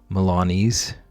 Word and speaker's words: Milanese: Rhymes with sneeze. Okay, so Milanese.